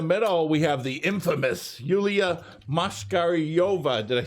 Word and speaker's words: Yuliya Moshkaryova: And in the middle, we have the infamous Yuliya Moshkaryova.